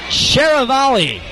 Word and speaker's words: Sharavali: Austin Sharavali is how we were told to pronounce his name.